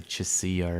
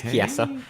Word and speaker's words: Chiesa: I'm surprised you can say Chiesa, that you didn't say Chisia or something like that. I know. Watch MMA, Josh. I know it's Chiesa.